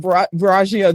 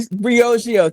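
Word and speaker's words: Briogeo: So Steve Stout uh Nancy Twine who has a phenomenal beauty company u Bargio that she recently Brioio thank you.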